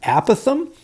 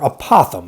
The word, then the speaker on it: apothem: goofy word here, guys, called an apothem or apothem. I've heard geometry teachers pronounce that both ways there. Either one of them would be fine. I generally say apothem.